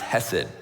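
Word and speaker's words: chesed: what this was originally written in that is pronounced hesid and the word can be translated into a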